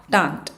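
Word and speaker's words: détente: what is a datant it's pronounced like this dat tun they have you know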